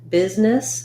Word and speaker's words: business: Both busy and business have the letter S saying the Z sound.